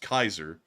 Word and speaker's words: Caesar: rules to pronounce Latin for the Germans it's actually pronounced Kaiser and that's where they got Kaiser from like Kaiser Wilhelm it means Caesar because Caesar after Caesar